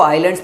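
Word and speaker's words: island: there, these small आइसलैंड कुछ लोग पढ़ते हैं इसको आइलैंड्स पढ़ते हैं, वैसे करेक्ट प्रोनाउंसिएशन यही है, लेकिन अपन हिंदी भाषी वाले बच्चे क्या आइलैंड पढ़ने के बजाय आइसलैंड पढ़ लेते हैं, तो जैसे मर्जी है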